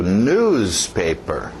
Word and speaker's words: newspaper: Continuando, o próximo, cuidado com o ritmo, batida no início. Newspaper, newspaper, newspaper.